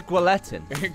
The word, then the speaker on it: guillotine: Yo, I've been saying guillotine my whole life. Is it guillotine or guillotine? I hate you, Matt. I think it's guillotine. Thank you. You don't pronounce the L. God damn it. It's guillotine.